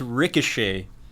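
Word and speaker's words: Rikshay: यस of course the name is रिकशे। सो इट्स it's unconventional spelling of the word रिकशे। We spell it आर आई के एस एच ए वाई।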